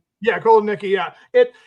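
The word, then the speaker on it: Kotelnicki: Kot Nikki. Yeah. Yeah. Cotton Nikki.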